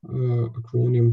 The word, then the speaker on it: acronym: Algol, acronym for Algorithmic Language. Acronym, the first syllable stressed.